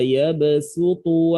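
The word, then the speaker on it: يبسط: Wallahu yaqbidu wa yabsutu wa ilaihi turja'un. Nah, kan tulisannya shad di sini. Tulisannya apa? Shad. Tapi bacanya pakai sin.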